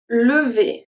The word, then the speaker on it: lever: Here we have two different types of E. The first one is a regular E, and then the second one, lever. V is a E. ER make the sound E at the end.